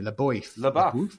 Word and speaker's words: LaBeouf: How do you pronounce his last name, by the way? LaBeouf.